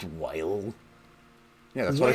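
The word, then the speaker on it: Weil: off again oh boy Dr will um actually it's pronounced whale yeah that's what I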